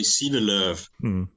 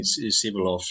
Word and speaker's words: Sivelöv: Is it Sivelöv? Yeah, in Swedish we say Sivelöv, but I'm used to having Sivelöv or something like this in outside Sweden.